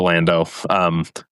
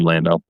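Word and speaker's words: Landeaux: But I end up liking the name Lando. Yeah, I think it was a great choice, especially because it's spelled E-A-U-X, which is just such a, land and then dough, but the dough is E-A-U-X.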